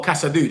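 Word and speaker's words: Casadó: Um, it's it's pronounced Cass. Casad Casadoo. Oh, Cassadoo. I knew it. Spanish. I knew I was saying it wrong.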